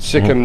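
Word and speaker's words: Sikkim: first organic State Sim Sim that's how you pronounce it sikim now has become indan first fully organic State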